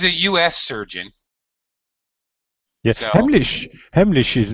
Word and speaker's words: Heimlich: Heimlich maneuver. All right. Well, your pronunciation is better than mine. Well, now I'm embarrassed. I've always called it Heimlich, like a hard CH.